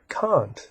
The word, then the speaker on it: Kant: But it's important to recognize that the proper way to pronounce his name is with an ah sound in his name.